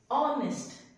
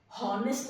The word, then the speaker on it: honest: ऑनेस्ट, हॉनेस्ट नहीं होता है, ऑनेस्ट होता है. H, the first letter of the word honest is silent.